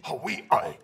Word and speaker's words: Huawei: Huawei. Pronounced Huawei. Well-known Chinese company.